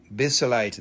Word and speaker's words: basilite: problem thank you Bridget be so light inclusion it's called green green needles yes basilite that is how you say it excellent Bridget excellent that